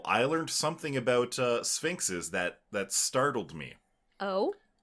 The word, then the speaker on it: Sphynx: now the first line is the Sphinx cat pronounced Sphinx also known as the Canadian Sphinx is what